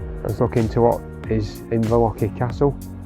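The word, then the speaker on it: Inverlochy: We're just looking at towards Inverlochie Castle, that's how you say it, and Ben Nevis behind.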